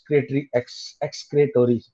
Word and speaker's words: excretory: Actually right pronunciation is एक्सक्रेटरी। मैं जानबूझ के बोलता हूँ ओ ताकि तुम लोग को याद रहे, यहाँ स्पेलिंग एक्सक्रेटोरी है, otherwise in pronunciation it is excretory system, excretory system.